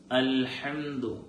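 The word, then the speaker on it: الحمد: അൽഹംദു. ഇവിടെ പലപ്പോഴും ആ എന്ന അക്ഷരം പല ആളുകൾക്കും നഷ്ടപ്പെടാറുണ്ട്.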